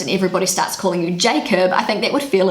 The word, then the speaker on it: Jacob: So Kiwi pronunciation, Jacob. British pronunciation, Jacob.